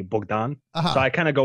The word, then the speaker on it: Bogdan: than dr bogdan or if you say it in the traditional ukrainian would be bogdan so i kind of